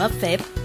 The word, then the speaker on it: fAVE: รัชดา และ ลาดพร้าว โดย ชื่อ ร้าน เฟบ อ่าน ว่า เฟฟ มา จาก คำ ว่า